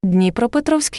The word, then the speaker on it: Dnepropetrovsk: So it's now called Dnepro, but it was called the Dnepropetrovsk, Ukraine. The old pronunciation of this is Dnepropetrovsk.